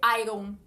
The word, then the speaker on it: iron: A gente fala iron, iron. Não é, esse O é como se ele não existisse iron.